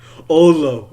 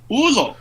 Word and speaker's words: Ulo: Olo. Okay. No, Ulo.